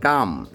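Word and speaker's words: calm: উচ্চারিত করতে হবে বিশেষ করে বাচ্চারা যারা ইংরেজি উচ্চারণ শিখছো যে নলেজ কেনেলজ না নলেজ নো তারপর কি আছে কাম সি এ এল এম কাম তারপর কি আছে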